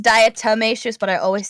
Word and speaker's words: diatomaceous: anyway it's it's fine and it's fine it's pronounced diatomaceous but i always say mutatious uh okay oh tomato tomato tomato that is